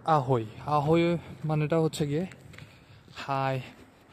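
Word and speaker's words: Ahoj: আমাদের শুরুতেই মনে হবে এটা আহই না, ওটা হচ্ছে আহোজ। বাট ইন চেক ল্যাঙ্গুয়েজ ওরা আসলে জেরে অনেক সময় ম্যাক্সিমাম টাইমে আয়ের মতো উচ্চারণ করে, তো ওটা হয় আহই।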